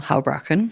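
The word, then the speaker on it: Houbraken: Pronounce it for me. Arnold Hrachen.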